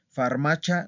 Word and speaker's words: farmacia: ¿Escucharon que ahora sí pronuncié chía y no cha? Farmacia no, es farmacia.